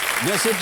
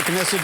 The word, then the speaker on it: क्नेसेट: नेसेट या क्नेसेट जैसे भी उसको प्रोनाउंस किया जाए, इजराइल की एक सदनीय विधायिका है, एक ही सदन है उसमें।